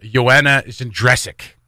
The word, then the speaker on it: Joanna Jędrzejczyk: So UFC 248, Wiley Zhang versus Joanna Jędrzejczyk. Yes. Which is how I'm pronouncing it.